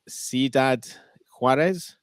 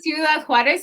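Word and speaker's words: Ciudad Juárez: We love 45 Sidad Huarees. Yes, that's very good. You could say Sudad Huarees or just Huarees.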